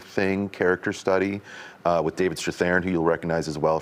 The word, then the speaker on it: Strathairn: Strathairn.